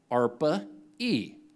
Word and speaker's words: ARPA-E: is an agency called arpa-e for Advanced Research Projects Agency energy and ARPA rhymes with DARPA okay which is the